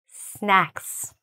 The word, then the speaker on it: snacks: If you don't say it properly, if you don't say that A properly, and it sounds like an E, then it sounds like snakes or snakes, okay?